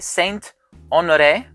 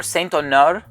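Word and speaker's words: Saint Honoré: my opinion the second fragrance is pronounced saint honore or saint ner and this one is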